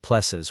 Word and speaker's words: PLSS: Your plss, the technician said, pronouncing it like pes with the kind of enthusiasm usually reserved for root canal procedures.